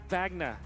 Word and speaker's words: Wagner: listening to your cast you're pronouncing it correct incorrectly say vagna vagna there you go we'll